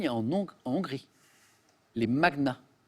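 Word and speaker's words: magnats: en en Hongrie les magnaas voilà qu'on prononce improprement parfois Mania en France mais c'est magna désolé Emmanuel que ce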